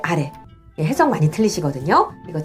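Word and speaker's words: あれ: 그것, 상대방 쪽에 가까울 때 소래하고 그 다음 멀리 있는 저것 할 때 아래. 해석 많이 틀리시거든요. 이거 잘 구분하시고요. 그 다음 제가 발음한 것처럼 고래, 소래, 아래는 뒤가 높고요.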